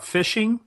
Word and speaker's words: phishing: going to talk about phishing and spear phishing and it sounds just like exactly what it is even though it's spelled different it's spelled pH is